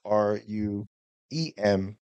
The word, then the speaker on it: RUEM: front of the letter when you say it, right? So I thought, let's put those together, R-U-E-M, hence RUEM.